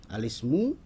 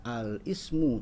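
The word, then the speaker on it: الاسم: dalam bahasa Arab adalah alismu kita tidak dibacanya alismu Ya kurang tepat kalau dibacanya itu adalah alismu karena i dari Ismu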